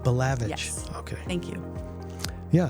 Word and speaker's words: Balavage: Now, how do you say your last name? Balavage. Balavage.